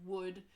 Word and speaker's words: would: common one last point make sure you pronounced the oh you LD sequence correctly the L is never heard so could should would is the correct pronunciation also important to point